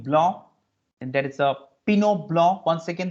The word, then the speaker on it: Pinot Blanc: And there is a Pinot Blanc. Once again, the T is not pronounced here.